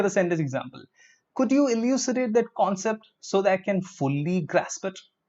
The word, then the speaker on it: elucidate: Okay, elucidate. Elucidate. Look at the pronunciation. Elucidate. Elucidate. Not elucidate, it's E. Elucidate.